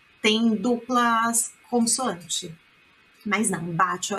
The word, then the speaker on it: bacio: Mas não, bacio é com um C. Se tivesse dois C, seria bacio, tá? Bacio, bem leve, ó, a pronúncia, ó.